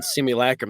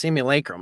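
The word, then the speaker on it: simulacrum: So, Glenn, is it simulacum or simulacum? Simulacum. Simulac. But I don't know. They said it right. The first 10 books. Somebody corrected me on simulacrim. They're like, "It's simulacum."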